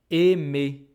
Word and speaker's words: aimé: "mé" And so, even though this "ai" I exactly the same that this A I know this is pronounced as et et and if you look at my mouth it's completely different. Et it's not open at all anymore.